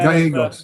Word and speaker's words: Gallego: Ruben Gallegos, how do you pronounce his name? Yeah, Gallegos.